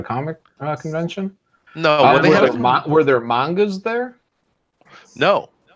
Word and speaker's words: manga: convention no were there mangas there no not at all okay pronounce it monger it ain't right they put an A in there dude it is manga get over it it should be manga cuz there's a name